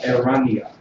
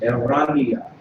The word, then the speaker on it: Erania: So a lot of people say my name, Erania, which is correct, but you could roll it, Erania, right?